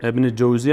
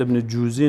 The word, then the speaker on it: ابن جوزی: ابن جوزی است، ابن جوزی نیست.